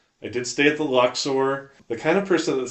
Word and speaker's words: Luxor: I'm like, "No, that's not how it's pronounced. It's the Luxor." Luxor. Luxor. Yeah, Luxer. Not Luxer. Lex Luthther versus Lex Luthor. Yeah, it's not Luxer. It's not a Luxer.